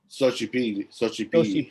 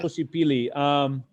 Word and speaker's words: Xochipilli: Xochipilli. Right? Like Xochitl. Okay. Yeah. Xochipilli.